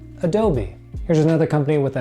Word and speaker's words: Adobe: making Photoshop illustrator Premiere Pro and this you pronounce as Adobe Adobe Adobe here's another company with a name that's not